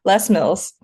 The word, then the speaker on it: Les Mills: I'm using the French pronunciation, so excuse me, Les Mills.